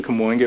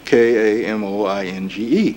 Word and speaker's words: Kamoinge: And we named ourselves the Kamoinge Workshop.